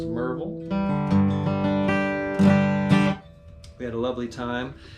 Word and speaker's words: Maryville: Last week it was Steve Kaufman's acoustic camp in Monroe, Tennessee, spelled Maryville, pronounced Merville. We had a lovely time at Merville College there, bordering the Great Smoky Mountains.